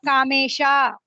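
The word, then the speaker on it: कामेश: sounds are there right it is not kamesha you are chaitanya right yeah we are opening our mouth and pronouncing it i want you to pronounce it as chaitanya as a short one so don't open your mouth fully it is kamesh not kamesha okay it is very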